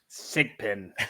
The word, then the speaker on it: SGPN: How would you pronounce our code, Gumby? SIGPIN.